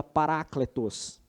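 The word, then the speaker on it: παράκλητος: A palavra consolador, irmãos, traduz uma palavra grega que se pronuncia parácletos.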